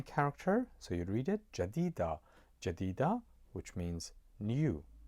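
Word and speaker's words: جديدة: As you see, that's ja with a short vowel I, you pronounce it ja, and d with a short vowel e underneath it, jadi, and then followed by the long vowel e, you'd say jadi, jadi, and then the letter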